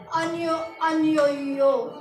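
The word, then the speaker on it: ennuyeux: Boring का यूज करना है तो हम बोलेंगे अनयोयो। क्या बोलेंगे? अनयोयो। क्या बोलेंगे? अनयोयो। ये हमारा गाइस इसकी प्रोनाउंसिएशन है, तो इसको कैसे पढ़ेंगे?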